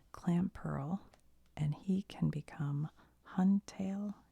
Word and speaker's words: Clamperl: Clampiel is a bivalve Pokemon. Hold on a minute. Oh, I thought that was an I. Okay. Clamperl. I said his name wrong.